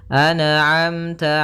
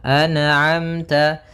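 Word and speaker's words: أَنْعَمْتَ: Maka hati-hati dalam melafalkan huruf atau bacaan anamta jangan sampai terpantulkan. Misalkan an'amta alaihim anaamta memantul huruf nunnya. Karena sifat nun tidak boleh mantul, maka dibaca dengan an'amta.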